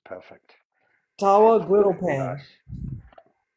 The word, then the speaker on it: tawa: Tawa griddle Should be pan. nice. So it's a No griddle más. pan, but it's called a tawa.